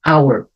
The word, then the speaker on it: hour: um exemplo our aqui eu não vou pronunciar a letter h tá então vai ficar hour significa hora uma hora